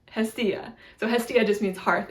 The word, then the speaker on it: Hestia: It's Hestia, Hestia.